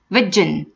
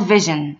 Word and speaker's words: vision: examples my company has a different virgin virgin virgin is not vision okay so my company has a different vision thank you this is